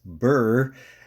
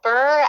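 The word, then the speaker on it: Birr: I grew up um is called Burr um but it's spelled b i r r um and but I in my head I'd always imagined it as Burr like the prickly plant um and so I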